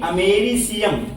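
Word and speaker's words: americium: तो ये बात दिमाग में रखेंगे कि जब ए आता तो अमेरिका लिखते और जब आई आ गया है तो स हो जाएगा उच्चारण, अमेरिसियम हो जाएगा।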